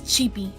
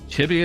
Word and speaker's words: Chibi: Is it pronounced Chibi? Yes, Chibi. Chibi it is.